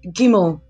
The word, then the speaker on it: Gimel: In this session, we will look at the third letter of the Hebrew alphabet, which is Gimel, and is pronounced as G. G.